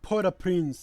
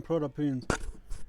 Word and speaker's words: Port-au-Prince: Yeah, she used to live in downtown Port-au-Prince. When they get Oh, Port-au-Prince, that's the pronunciation, Port-au-Prince.